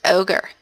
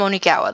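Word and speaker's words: Onigawara: you like I said it's ogre ogre say it right I am Oni gawa the student council president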